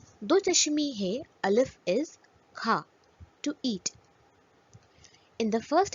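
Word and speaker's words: کھا: But in the second example, Do Chashmi Hai provides an aspirated sound when combined with Chhoti Kaf.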